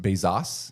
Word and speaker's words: Bezos: Um, it's actually pronounced Bezos.